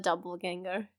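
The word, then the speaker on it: Doppelgänger: of course we have a scene with a mirror, like here before the reappearance of the doppelganger. Did I pronounce it correctly?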